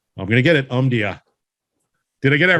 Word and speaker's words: Omdia: I'm always excited about interviewing individuals from, I'm going to get it, Omdia.